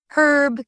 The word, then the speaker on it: herb: Herb keeps the H sound in British English, unlike the silent H in American English.